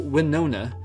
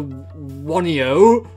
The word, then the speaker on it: Winona: Yeah, when I was younger, I did not know how to say this name properly, so I called her Wanio for some reason.